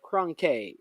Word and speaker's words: Kronke: Not Cranky as Cranky, but Kronke. Let's pronounce it right.